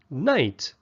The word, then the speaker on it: knight: defend a king and it's spelled with a k in front but the K is silent we don't say good